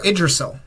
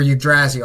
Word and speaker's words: Yggdrasil: This could be Yggdrasil, or Yggdrasil. I've heard it pronounced both ways.